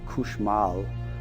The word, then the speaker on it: cauchemar: And there was, it's pronounced variantly in Louisiana, couche mal, which means to sleep poorly.